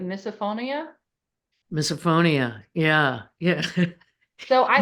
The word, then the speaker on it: misophonia: I know one thing that you mentioned that sugar experiences that you also have experienced is, let me say it right, misophonia.